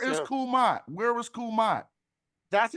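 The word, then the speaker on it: Kemet: Where is Kumat? That's how we pronounce it.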